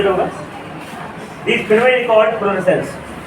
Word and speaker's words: fluorescence: तुम लोग तो बस स्पेलिंग पढ़ लेना, FLUORESCENS फ्लोरेंस। हम फ्लोरेसेंस पढ़ेंगे, तुम जो पढ़ो फ्लोरेसेंस, ये चमका है ना कैथोड के उल्टा साइड, इस घटना को क्या बोलेंगे?